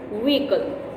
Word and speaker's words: vehicle: I know you can see H in the spelling of this word, but this H is silent. The correct pronunciation of this word is vehicle.